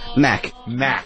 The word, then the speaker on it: Mac: Mac. Yeah, it's one syllable. It's a Mac.